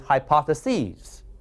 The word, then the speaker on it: hypotheses: plural of hypothesis is hypotheses I'm emphasizing the letter e they're hypotheses that's the only difference